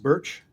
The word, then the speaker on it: Bertsch: Is your last name pronounced Birch?